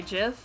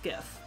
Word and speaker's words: GIF: the word gif is pronounced different ways i pronounce it gif but some people say jif but i'm will die on this hill it's pronounced gif um so then they can log in here